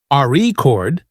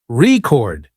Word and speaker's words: record: stress the first syllable re chord it's a noun but if you stress the second syllable record it's a verb practicing stress and intonation